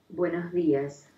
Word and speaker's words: buenos días: There's 9 pronunciations of it in Spanish. Buenos días.